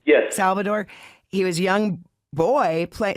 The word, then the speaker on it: Salvador: when he was young at Salvador am I pronouncing his name right yes Salvador he was young boy play saying dad what